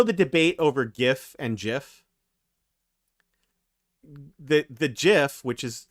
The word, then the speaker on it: GIF: in his rfc that it's pronounced jiff with a soft g which he did say